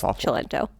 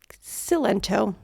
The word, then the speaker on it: Cilento: It's chilento. Okay. But it's spelled sento. I was say kento. It's just because the the c and the i together in Italian make the ch sound.